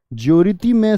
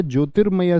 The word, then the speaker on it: ज्योतिर्मय: रेफ रूप का प्रयोग जिस व्यंजन पर है उससे पहले उसका उच्चारण होगा। यानी इसकी ध्वनि कहां गई? यहां। तो बोलिए जोरति जोरति में होगा। ज्योरतिमय शब्द है या ज्योतिर्मय शब्द है तो बी एकदम से ठीक हो जाएगा।